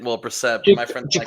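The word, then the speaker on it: Brissett: Jacobe brisket. Well, Brassette, but my friend Jacobe Brassette.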